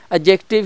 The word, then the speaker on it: adjective: यहाँ पे डी जो है उसको साइलेंट है, खामोश है, वो नहीं बोलेगा, वो चुप करके बैठा रहेगा, तो आपने वर्ड पढ़ना है एडजेक्टिव।